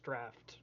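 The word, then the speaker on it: draught: yeah uh a drought I didn't say draft I said drought c r a u g HT it's pronounced draft I don't believe you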